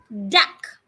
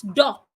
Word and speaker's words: duck: You can have the word duck, not dock.